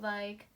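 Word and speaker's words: り: video, they were like in textbooks they will probably like say the sound is like with R, but we actually pronounce like L.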